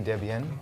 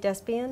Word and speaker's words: DesBiens: you pronounce it well if you're french you can say debian or you can say despian so would you say despian yeah okay yeah despite great